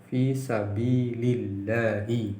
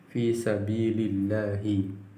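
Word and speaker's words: في سبيل الله: al jihadi, dari jihad, fi sabili Allahi, di jalan Allah, fi sabilillahi, bacanya seperti itu, fi sabilillahi, di jalan Allah.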